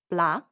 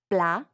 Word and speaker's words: plat: cab it's all connected blah means dish open your mouth and pay attention to the sounds blah notice how the final T is not pronounced that's because in French